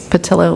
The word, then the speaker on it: Patillo: Also say it's patillo like armadillo, but it's frequently mispronounced, and I don't mind.